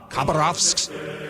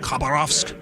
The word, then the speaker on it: Khabarovsk: I can't pronounce the name, but it's spelled Khabarovsk. Khabarovsk. Is that how you pronounce it? Khabarovsk.